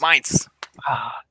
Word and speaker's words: Mainz: It's Mainz. It rhymes with pints. Mainz.